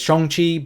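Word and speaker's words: Shang-Chi: say Shang Chi as shonchi because and I don't say it with a hard o people two people seem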